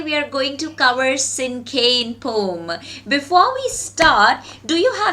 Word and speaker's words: Cinquain: Okay, the word is pronounced as Cinquain. Alright, how do we pronounce the word? We pronounce it as Cinquain.